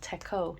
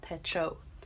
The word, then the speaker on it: Techo: I learned from someone who commented that it's pronounced Techo, not Techo.